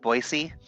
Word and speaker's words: Boise: pronounced sickle because technically technically Boise is supposed to be pronounced boisey yeah it's this I